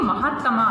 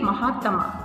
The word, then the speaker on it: महात्मा: कैसे लिखा गया था यह तो महत्तमा है तो पूरा है तो कैसे बोलेंगे महातमा और यह हमारा आधार कार्ड है तो कैसे बोलेंगे महात्मा है है इसलिए सही तरीके से हम उच्चारण करेंगे तो सही तरीके से हम लिख पाएंगे तो यह जो महात्मा